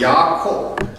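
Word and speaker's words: יעקב: 그런데 그 야곱의 이름이 무슨 뜻이죠? 야곱. 26절에 보면 우리가 26절을 다시 한번 읽겠습니다. 26절 후에 나온 아우는 손으로 에서의 발꿈치를 잡았으므로 그 이름을 야곱이라 하였으며 야곱은 히브리어로 야콥.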